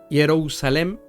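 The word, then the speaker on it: ירושלים: Otra palabra es Jerusalén, que se pronuncia Jerusalem en hebreo, o se escribe también, y representa para ellos el fundamento de paz o posesión de la paz.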